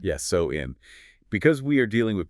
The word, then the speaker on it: Samhain: And just for anyone reading the historical text, the spelling looks like Samhain, but it is actually pronounced so-in. Yes, so-in.